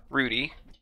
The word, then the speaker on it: Rudy: pronouncing his name wrong it's not rowdy it's Rudy known as it says it in